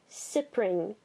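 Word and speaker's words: Cyprine: Now, Sipring, I do believe you're supposed to say her name Sipring, because that's how it's said in the anime, and she doesn't last long enough for me to think otherwise.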